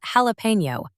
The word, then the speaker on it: Jalapeno: It is called Jalapeno, pronounced like the pepper, and it is built for one job, serving models, not training them.